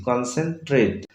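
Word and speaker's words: concentrate: তো কাজেই এখানে এই ভাওয়েলের উচ্চারণ এর মতো পাচ্ছি, কনসেন্ট্রেট।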